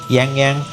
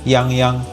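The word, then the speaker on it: Yangyang: I've heard a lot of English speakers actually pronounce Yang Yang's name as Yang Yang, which is normal, right? But, yeah, in Mandarin, it is pronounced as Yang Yang. Yang Yang.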